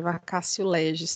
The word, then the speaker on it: vacatio legis: Esse Tzinho, ele tem um sonzinho de C, vem do latim, vacatio legis, tá bom? Mas se você pronunciar vacatio, não tem problema também não, tá bom?